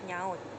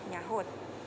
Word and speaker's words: nyaut: Kedua, kesalahan penyebutan yang kata bakunya adalah nyaut, tetapi disampaikan dalam bentuk bunyi nyahut yang mana pada kata tersebut ada penambahan bunyi ha.